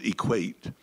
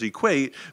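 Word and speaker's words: EQAT: group we we called equate the new Environmental Group that I had initiated in 2009 we pronounced our group's initials as equate because it made it fun and easy to say and remember the shorthand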